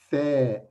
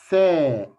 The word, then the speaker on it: ث: from number three three keep your tongue out your teeth while you pronounce pronounce fair fair three okay how can